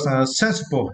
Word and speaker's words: sensible: And for the next word, sensible. And for this word, you need to stress the first syllable, right?